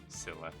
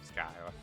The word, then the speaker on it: Scylla: It's pronounced Scylla like Scylla. Oh, okay. Scylla. Not Skylar. Yeah, there's actually there's a